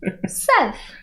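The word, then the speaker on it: Szeth: so then you the furlough the second paralog seth yes did i say it right this is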